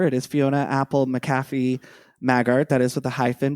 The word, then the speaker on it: Maggart: So, why don't we talk about who Fiona Apple McCaffy Magart is? Or is it Maggart would you say? How would you pronounce it? Magart. Yeah.